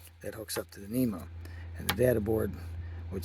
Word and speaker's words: NEMA: That's what it sounds like. That's what people say it like. I think it's N-A-E-M. I don't know what the heck. That's right though, right? That's how you say it. NEMA, right?